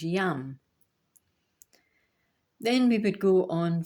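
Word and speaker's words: यं: And the pronunciation of that word in Sanskrit is yam.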